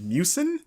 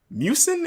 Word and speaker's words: Miucin: name pronounced correctly but I'm gonna go with mucin mucin mi u CIN I think is it's like mucinex like them but without the X so I guess now